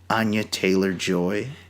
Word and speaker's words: Anya Taylor-Joy: Anya Taylor-Joy.